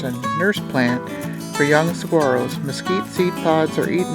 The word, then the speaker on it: saguaro: increased diversity of nearby species apartment living the saguaro that's how you pronounce it cactus in front of you is